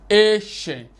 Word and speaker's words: ancient: It's ancient.